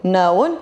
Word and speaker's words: known: okay good no new known you know that again tree yeah very good k is silent you don't need to pronounce it okay and also learn